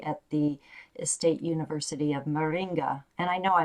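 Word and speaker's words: Maringá: of clinical psychology at the estate university of moringa and i know i mispronounced that i apologize marilia you can tell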